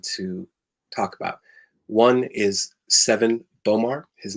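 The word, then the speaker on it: Sevan Bomar: that i want to talk about one is seven bomar his name is spelled s-e-v-a-n-b-o-m-a-r and he wrote a book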